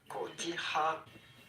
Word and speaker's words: cotija: We are looking at how to pronounce cotija cheese.